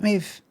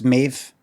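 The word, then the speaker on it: Maeve: Or is it M? I think I think I asked her. I said, "Is it me?" I think she said, "No, it's Mave." I thought it was like Neve.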